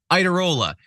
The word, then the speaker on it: Iadarola: It's John Iadarola. Do you think anyone pronounced it that way back in Italy? Hell no. Iadarola. Nobody did. There was like 7 more A's in it.